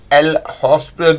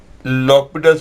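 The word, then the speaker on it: L'Hôpital: और बहुत सारे बच्चे इसके अंदर लॉपिटल्स रूल लगाने की सलाह देंगे, जिसको कि कई लोग एल हॉस्पिटल भी बोलते हैं, लेकिन प्रॉपर प्रोनाउंसिएशन उसकी लॉपिटल्स रूल है।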